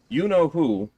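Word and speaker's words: Yeenoghu: is you know who well that is apparently how it's actually pronounced by the way you know who no really that's his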